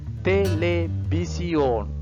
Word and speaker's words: televisión: Televisión, televisión. Can remember? V. The sound is B sound. So televisión.